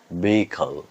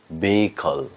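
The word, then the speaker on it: vehicle: এর উচ্চারণ হচ্ছে বেখল। বেখল।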